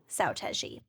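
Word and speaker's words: Seo Taiji: oh God, I can never remember how to pronounce this. Saotaiji. Saotaiji.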